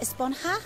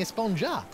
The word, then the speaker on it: Esponja: huh actually it's pronounced esponja with an H sound at the end really but we've all been saying a sponger yes I know it's